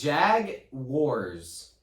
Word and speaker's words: Jaguars: Oh, thank you, Siri. Jaguars. It says Jag Wars. Jaguar. It says Wars.